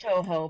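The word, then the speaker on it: Touhou: It's pronounced Toho, but I always say it Tohus, because I don't...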